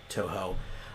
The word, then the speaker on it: Touhou: Touhou for the Touhou. People pronounce it different ways. Toho.